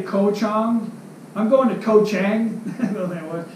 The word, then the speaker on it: Koh Chang: island is gold go Tom if I say Koh Chang I'm going to Koh Chang it could be